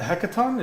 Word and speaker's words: Hekaton: land fortress the hecaton the hekaton is how you say it hecaton yeah so and